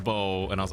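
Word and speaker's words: Beau: And I thought for whatever reason it was pronounced like Bu or something, like spew or bu, but no, it's pronounced bow.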